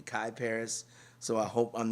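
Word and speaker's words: Kyparis: called Dance of the the producer's name is spelled KY p a r i s so I'm saying caparis or kiparis it could it could be caparis it could be Kai Paris so I hope I'm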